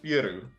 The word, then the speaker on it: Peru: My pronunciation is Peru, like with a PE. Like Peru. But yeah, it spells like Peru.